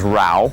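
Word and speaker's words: Rau: His name is Rao. And Rao? Rao. How do you spell that?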